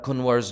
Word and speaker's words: Kunwar: how to pronounce kabita kunwar's name the n is little softer so it's more like kunwar i don't know if